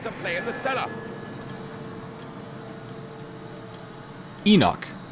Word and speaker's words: Enoch: Enoch. That's how you pronounce his name.